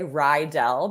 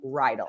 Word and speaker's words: Reidl: Most people say Rydell because they've watched Grease before and the high school is Rydell High. So I usually get that, but you said it right. It's like a horse Oh, bridle without the B. So Rydell.